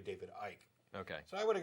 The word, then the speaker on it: David Icke: it wrong anyway because i would have pronounced it as ick and it's actually david ike okay so i would